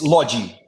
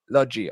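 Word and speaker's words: Lodi: player uh Ren and Lottie or is it pronounced Lottie or Logie how what's the correct pronunciation it's lodgy lodgy okay how how did the Brazilians seem because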